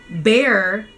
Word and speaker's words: bear: an A air a a or bear okay bear actually rhymes with pair the fruit but you're just putting